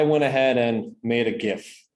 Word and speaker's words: GIF: ahead and made a gif i know it's jif with a soft g i can't get over